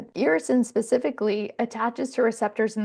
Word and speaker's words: irisin: irisin specifically attaches to receptors in the brain.